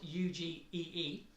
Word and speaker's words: UGEE: thing called this here, the UG. UG, it's spelled UGEE. I call it UG.